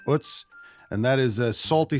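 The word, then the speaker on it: Utz: recently about UTS I I've pronounced it wrong on this podcast in the past it's not UTS I've learned it's UTS and that is a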